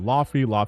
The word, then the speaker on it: Laufey: I know people pronounce it Laufey.